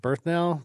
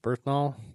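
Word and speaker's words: Bernthal: That John Ber, is it Berthnell? Berthnal. Oh, I'm sorry. I can't pronounce his name.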